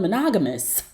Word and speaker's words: monogamous: I'm gonna need you to learn how to pronounce the word monogamous. There is no T at the end of monogamous.